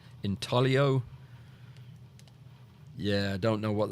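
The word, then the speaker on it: intaglio: Anyway, uh Inaglio, it's not pronounced that way, though. It's a silent G, isn't it? Inio.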